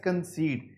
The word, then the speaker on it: conceit: The word is conceit, it should be spoken as conceit, इसको आपने conceit pronounce करना है।